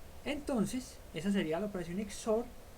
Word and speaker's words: XOR: acá esta se llama operación operación exor o exor pero se pronuncia exor Entonces cómo Qué significa